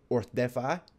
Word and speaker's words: Orcedify: How do you pronounce your name? So it's actually Orcedify.